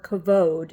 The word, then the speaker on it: kabod: the second is called the kabad or cavod if you want to use Hebrew uh it's spelled k a b o d in English in Hebrew it would be spelled k a v o d the B and the V are interchangeable so the kabad or